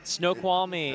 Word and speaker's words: Snoqualmie: coming at us from Snoqualmie, Washington? I'd probably. Yeah, Snoqualmie. That's how you say it.